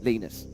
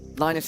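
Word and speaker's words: Linus: Apparently now the official termin terminology name is Lenus. Lionus, however you want to pronounce it in Sweden where he's from. It's primarily Lenus.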